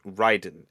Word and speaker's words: Raiden: is titania just like raiden is raiden in mortal kombat despite being pronounced ryden everywhere else but uh right